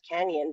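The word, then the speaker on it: Cañon City: to Canon City Canyon it's actually pronouned Canyon but it's spelled a Canon with the little swiggle above the end a Canon it would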